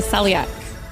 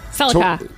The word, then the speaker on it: Celica: Which car company produced a model named the Celiac? Celica. Toyota. Yes. Celiac. I was tracking. Even with me mispronouncing it, you get it correct, which is 5, which is a win, Oh, barely.